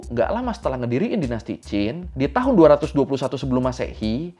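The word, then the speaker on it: Qin: sama nama dinastinya tuh Jin ya tulisannya kin tapi Q itu kalau bahasa Cina dibacanya CH jadi cincin Cina oke ya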